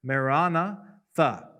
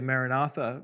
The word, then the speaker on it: maranatha: is these two words, maranatha. Usually in English we say maranatha, but in the Greek the accent is on the second syllable, pretty clear.